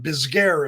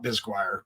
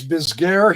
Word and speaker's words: Bisguier: Bisguer is how I'm going to call it. Bisguire. It's not Bisguire. Bisguer.